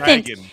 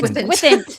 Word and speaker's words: Gwythaint: No, it's Dragon. Gwithant. It's Gwithant. Gwithant. Okay, well, Gwithant. this is a safe place to fail, Rebecca. Gwithant. This is a safe place. They actually Sorry, say yes, Gwithant? sorry. Gwithant. Yes, Yeah. that's the correct Gwithant. pronunciation.